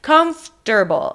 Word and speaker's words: comfortable: It's comfortable.